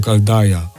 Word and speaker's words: Chaldea: została przemianowana na Sumer w języku greckim nazwa chaldea wymawiana była jako kalaja i jeśli nazwa wywodziła